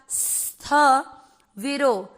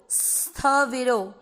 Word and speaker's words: स्थविरो: Then स्थ, आधा स थ के साथ स्थ विरो, स्थ विरो।